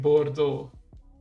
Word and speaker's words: Bordeaux: type it out like this combination of letters can often just be pronounced as o so like Bordeaux so yeah so how